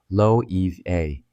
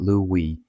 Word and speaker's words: Loewe: It's Spanish. Lo a two syllables. The stress landing on that second one, not Lui, not Lo Eve.